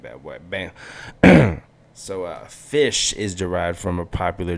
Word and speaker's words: Ghoti: said jihadi johnny jo jotty but actually it's fish how to pronounce that is fish playing with the or pointing out flaws in